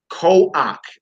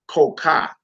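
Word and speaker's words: כח: That's ko-ak, not ko-ka. Ko-ak, not ko-ka.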